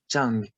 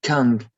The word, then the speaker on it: Chang: It's also another language from the Thai, Chang, not Kang.